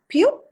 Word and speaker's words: Pieux: How do you pronounce it? Pio. It's called Pio. Pio.